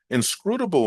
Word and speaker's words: inscrutable: When it comes to pronunciation, stress the fourth syllable, able or able, depending on how you're going to pronounce the word. Both will be correct.